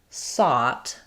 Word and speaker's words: sought: Um so in this word sought the o u gh says the a vowel um which I could rewrite as a w. So if you think about I saw him, I sought him out, you're going to have the same vowel there.